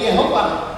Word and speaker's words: Yehovah: itu S disangkal karena waktu mengucapkan Yehova itu seperti mengucapkan adonai karena itu asalnya kata tadi kata yahovah itu dari huruf-huruf hidup yang EE yang ada di adonai jelas jelas nah jadi waktu orang menulut yahovah itu tidak terlalu ke nama sucinya benar yahwi gitu sehingga itu masih oke gitu ya padahal Memang harusnya ya adonai aja bacanya tapi begitu orang melihat